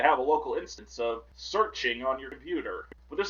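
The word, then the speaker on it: SearXNG: Priv.u searchng, although I think it's pronounced searching. I'm searching but with XNG at the end.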